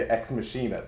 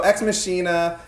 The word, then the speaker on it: Ex Machina: pronounced yeah I mean an automatic instinct when you read it is to say X machine at though right so X mashina alex garland this was